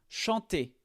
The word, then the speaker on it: chante: Alors ici, le verbe chanter et bien on le prononce sans le e à la fin. On prononce juste le t.